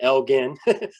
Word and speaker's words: Elgin: It looks like Elgin, but for some reason they pronounce it Elgin.